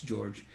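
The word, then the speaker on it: György: can find George Geiger but it's spelled G e o RG Y but it but of course in Hungarian that's George and then got your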